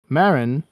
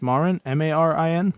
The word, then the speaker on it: Marin: And one day, Marin, I'm always bad with pronunciations. Marin, Marin, Marin.